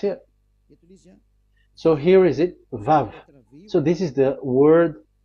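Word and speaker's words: וָו: So it's V as in vogue. So it's really V. How to read vogue? So the word, the shape Vav is really pronounced V, like vogue. That is it, pronunciation. So here in this side, it's pronunciation. This is pronunciation. So according to the old Hebrew word today, those who, the owner of the word, I mean, so it's a V. So don't change it into W.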